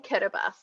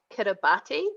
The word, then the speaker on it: Kiribati: tribe so it's in kiribati so it's about kiribati but it's pronounced pronounced the ti is pronounced as an es so the interesting thing about kiribati is that all of